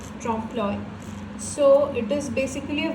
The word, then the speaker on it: trompe-l'oeil: So the spelling is and it is pronounced trompe-l'oeil.